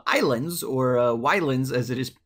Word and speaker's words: Ylands: Today we were taking a look at the game called Ylands, or Ylands as it is spelled, but apparently it's still pronounced Ylands. Ylands is just the way that Islands used to be spelled, apparently.